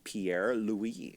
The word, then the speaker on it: Pierre-Louis: Let's welcome Pierre-Louis.